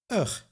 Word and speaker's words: ig: Indeed, the schwa is also present in the unemphasized ending lijk, pronounced as luk, and ich, pronounced as ugh.